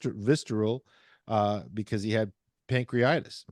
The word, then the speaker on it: pancreatitis: uh because he had pancreitis pancreitis or pancreatitis I think it's pancreatitis is the way it's pronounced and he was about